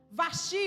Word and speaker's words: Vasti: A Bíblia nos diz, fala de uma rainha, Vasti ou Vasti, como você quiser pronunciar.